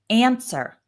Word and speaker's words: answer: These are two-syllable verbs with the stress on the first syllable. We have answer, travel, study, okay?